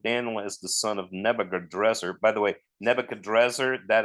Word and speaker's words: Nebuchadrezzar: Yeah, Nebuchadrezzar. Yeah, Nebuchadrezzar is actually the Babylonian pronunciation of it or something.